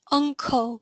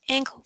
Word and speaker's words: ankle: of course as well it's often mispronounced as uncle but it's not an uncle it's a body part ankle thank you you wear